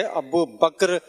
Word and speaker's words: ابو بکر: صحیح تلفظ ہے ابو بکر رضی اللہ تعالی عنہ. آخر کا کاف اور را دونوں ساکن ہیں.